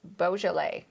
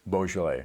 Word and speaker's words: Beaujolais: So it's Bojallet. Bojlet.